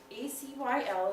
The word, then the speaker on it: acyl: flat river this is known as the acyl a cyl is pronounced acyl part of your compound this is